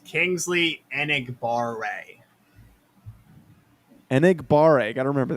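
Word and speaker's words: Enagbare: you pronounce it ryan you're the king of pronunciation here it's kingsley anigbar-rae and igbaare i gotta remember that one so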